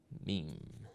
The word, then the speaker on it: meme: the French word MIM it should be pronounced to rhyme with cream mean examples of means are